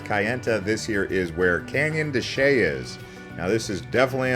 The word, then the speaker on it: Canyon de Chelly: It almost looks like it's pronounced Canyon de Chelly. Nope, Canyon de Chelly. Look at that sheepdog doing his job there. But yep, here we are pulling up into the Canyon de Chelly National Monument area.